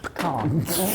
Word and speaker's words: pecan: It's like you're trying to get to the can and you just trip up on the way there. Pecan.